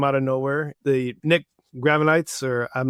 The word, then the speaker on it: Gravenites: The Nick Gravenites, or I'm not sure how you pronounce his name. Nick Gravenitis, yeah.